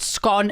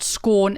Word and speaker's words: scone: the fresh baked scon is excellent yes I pronounce it scone as in gone and not scorn as in corn it's I think honestly even